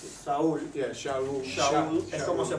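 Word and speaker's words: שאול: Okay, Shaul. So it comes from, this is the word in Hebrew. Esa es la palabra en hebreo, Saulo. Shaul. Okay, that's how you pronounce it. Saúl. Yeah, Shaul.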